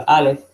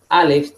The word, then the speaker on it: Aleph: Antiguamente la Aleph tenía una pronunciación, pero con el paso del tiempo se desconoce la pronunciación de la Aleph y actualmente es una ot muda.